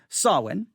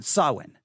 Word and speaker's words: Samhain: that you know exactly how to say it sawin sawin all right sawin now again it's spelled s-a-m-h-a-i-n sawin now why am i giving you the word